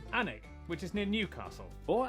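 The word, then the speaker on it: Alnwick: stop in quernmore quma before finishing up in alwick anik which is near Newcastle or as the people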